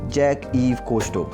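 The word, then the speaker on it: Jacques-Yves Cousteau: problem we face today and the name is jack eve kosto you might have pronounced it wrong so let's say a bit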